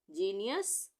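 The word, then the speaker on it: genius: यहाँ पे भी जी ई आ गया, जीनियस, और यहाँ पे भी जी ई आ गया तो जेम।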